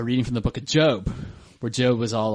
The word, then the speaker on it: Job: No, it's Job. J-O-B is pronounced Job in the Bible.